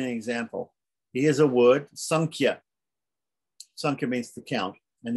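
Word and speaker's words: सांख्य: but normally it's pronounced sankia okay so that's an example of an anishwara and the way it's pronounced is flavored by the kh this is the letter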